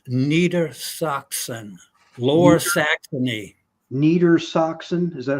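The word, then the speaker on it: Niedersachsen: it it was called Neer soxon low Saxony Neer Saxon is that how you say it yeah neita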